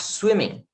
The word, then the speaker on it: swimming: I like swimming. I like swimming. Eu gosto de nadar. O G também é mudo. I like swimming. Termina no N.